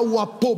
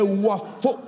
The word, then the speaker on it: Wafo: J'ai dit, assurez-vous simplement qu'ils prononcent bien mon nom. Ils n'écrivent pas Wapo, mais Wafo.